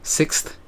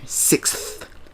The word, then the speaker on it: sixth: Sixth. You just gotta stick the TH in there. Sixth.